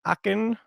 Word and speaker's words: Aachen: on the streets of Aachen that pronounced arc and eventually been zarkan